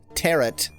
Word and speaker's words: tarot: Tarot. Rhymes with carrot.